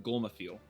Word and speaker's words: Golmathiel: No, it's Old Norse. It's pronounced Golmathiel. Oh, V is okay. TH. Gotcha.